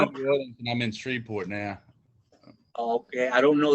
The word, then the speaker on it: Shreveport: And how do you say that? Freeborg? It's Shreveport. There's actually it's a Shreveport.